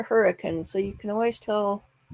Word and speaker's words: Hurricane: so we have a town near Zion National Park called hurricane not hurricane the locals pronounce a hurricane so you can always